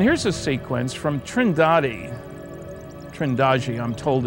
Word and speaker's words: Trindade: the picture and here's a sequence from trindad trendi I'm told it's pronounced 600 Mi east of the coast of